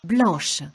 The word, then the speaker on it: blanche: Blanche. And in this case, the pronunciation does change. Blanche.